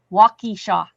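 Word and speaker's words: Waukesha: I graduated a walkishaw. That's how you pronounce that.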